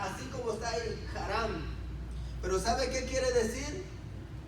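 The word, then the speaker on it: חרם: La palabra que en hebreo se pronuncia así como está ahí, haram.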